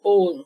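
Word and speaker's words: ogham: seja é a palavra é o g h a m de Maria og gan mas não se pronuncia o g então é o calendário ow são as ow moons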